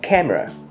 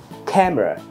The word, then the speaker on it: camera: được Hamburger Hamburger 300ml nhưng mà trong thực tế chúng ta hay người ta đọc là camera camera camera thì có hai âm phần tiếp theo chúng